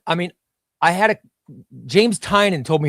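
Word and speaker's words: Tynion: That was the extent of all of my creator contact, was him just telling me it's Tynan, and that's how you pronounce it.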